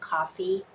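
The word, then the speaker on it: Ko-fi: Actually, it's pronounced coffee.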